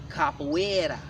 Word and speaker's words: Capoeira: inside of Africa, and that fighting system was mispronounced by Rafael Bluto in the year 1712 as Capoeira.